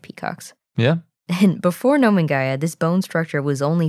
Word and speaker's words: Nomingia: I had assumed the Gaia was like Gaia, the earth spirit sort of thing, but it's named after a place that's in Mongolian, and it's also been Latinized.